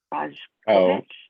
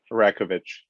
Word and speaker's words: Rajkovich: Rajkovich, is that how you say it? Rakovich.